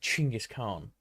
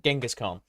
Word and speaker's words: Chinggis Khan: Now, I know a decent amount about Chinggis Khan, which is why I'm saying Chinggis Khan instead of Genghis Khan.